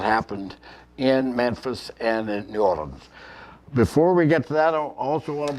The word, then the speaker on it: New Orleans: she was down in New Orleans I'm saying it right now New Orleans not New Orleans as they say tonight anyway so I'm